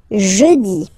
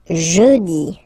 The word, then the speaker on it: jeudi: Next one, jeudi. Jeudi. Remember, when you combine this U, you get the sound jeudi. Jeudi, so I insist a little bit, so make it softer. Jeudi, jeudi.